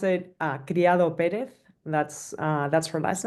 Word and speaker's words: Criado Pérez: So you pronounce it Criado Pérez.